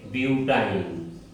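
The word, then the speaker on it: butyne: সদস্যের নাম হচ্ছে বিউটেন আর এখানে আইন উচ্চারণ করতে হবে সে কারণে এখানকার চার নাম্বার সদস্যের নাম হবে বিউটাইন বিউটাইন অনুরূপভাবে আমরা এন এর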